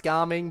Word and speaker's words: Gaming: And I know it's pronounced gaming, but I will always prefer to say gaming because obviously, yes, he is gaming.